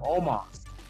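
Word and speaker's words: Omos: obama oh my god how come they spell the omo s i don't know but that's how they pronounce how to pronounce it oma all right some reason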